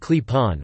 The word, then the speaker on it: Klepon: clapping pronounced clip-on or owned own pronounced